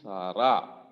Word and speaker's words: Sarah: Section 2 on being Sarah. H is silent, Sarah.